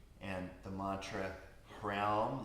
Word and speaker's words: Hraum: And the mantra Hraum, like it was before, H-R-O-U-M, Hraum.